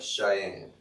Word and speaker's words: Cheyenne: are 50 000 students no it actually starts with a ch it's a cheyenne hey google how do